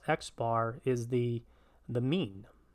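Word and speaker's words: x̄: So this X with a line over it, pronounced X bar, is the mean.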